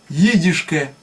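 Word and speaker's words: ייִדישקע: Значит, здесь первый звук читается как «и». Дальше «и» идет. И иголка. И. Это дальше «ди». «Еди». И потом «шке» в конце. Вот смотрите. Значит, здесь... вот она. Вот. Читается, получается, как «и», «и», «д», «и», «ш», «к», «э». То есть «едишке» это «ди едишке». Вот так вот читается.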